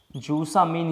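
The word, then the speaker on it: zusammen: जूसा मीन इसका नाम है, जूसा मीन। इनाइट, इनाइट जेम, डबल एन इसमें साइलेंट है, ठीक है, साइलेंट है, इसका मतलब है सेम साइड, सेम साइड।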